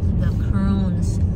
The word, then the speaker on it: The Croons: Is it The Croons or The Croons? You can pronounce it how you like. But it's really The Croons.